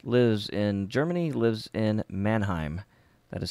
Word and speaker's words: Mannheim: so more folks lives in Germany lives in Mannheim that is spelled ma in in hei M there you go brother my town is named after your town Manheim sweet alright so everything's looking good in Mannheim